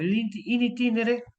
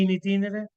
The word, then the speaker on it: in itinere: la casa del trabajo in itinere lo pronuncio en latín porque así está puesto intin o sea en el trayecto Eso significa está puesto en la ley in itinere así se lo conoce